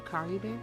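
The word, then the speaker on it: Caribert: up that's how you say his name car bear oh my god oh Cari Bear's Consciousness is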